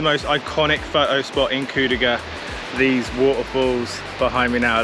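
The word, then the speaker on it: Kuldīga: I'm not sure how I pronounced the town earlier, but it's Kuldiga. So if I pronounce it differently, I apologise. The way I'm going to remember it now is, I ain't saying she a coal digger.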